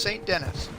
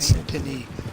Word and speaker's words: Saint Denis: It's St. Dennis. It's not pronounced St. Denis.